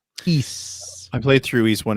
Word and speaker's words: Ys: much yeah yeah yeah Ys wise if you don't know how games pronounced that's what I called it when I was a kid East I played through East